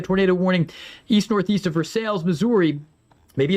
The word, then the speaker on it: Versailles: But I would treat it like a tornado warning east northeast of Versales, Missouri. Maybe it's Versailles. I know in Kentucky they pronounce it Versailles.